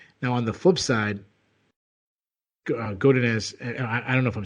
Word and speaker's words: Godinez: Yeah, Godinez, you've got it. Godinez.